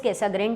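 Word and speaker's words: Cassegrain: एक होता है कैसाग्रीन, प्रोनाउंस थोड़ा थोड़ा सब लोग अलग करते हैं, but exactly it इज़ कैसाग्रीन telescope.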